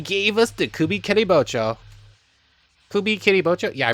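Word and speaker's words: Kubikiribocho: Kubi Kiribocho? Yeah, I pronounced that correctly.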